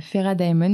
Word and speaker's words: Fera Daemon: Du coup, je t'interroge parce que tu es le cofondateur avec Margot de Fera Diamond. Dis-moi si je me trompe dans la prononciation.